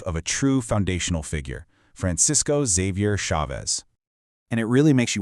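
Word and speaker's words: Francisco Xavier Chávez: And just so we're all on the same page, his name is pronounced Francisco Xavier Chavez. Let's try it. Francisco Xavier Chavez.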